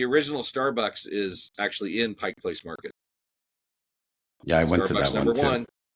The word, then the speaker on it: Pike Place: it is it's pronounced Pike Place it's not Pikes there's no apostrophe s Pike Place Pike Place